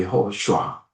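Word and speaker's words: יהושע: 원래 발음은 여호슈아입니다. 여호슈아.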